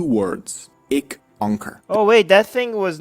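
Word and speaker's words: ਇੱਕ ਓਅੰਕਾਰ: Opening sentence is just Ik Onkar.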